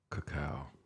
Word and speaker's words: cacao: Cacao is actually how you pronounced it.